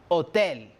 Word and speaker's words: hôtel: En la palabra hôtel identificamos dos sonidos, le son O y le son E. Por lo tanto, pronuncio hôtel.